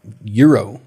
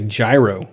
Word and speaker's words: gyro: people can't even spell they're pronounced euro they say gyro gyro exactly that is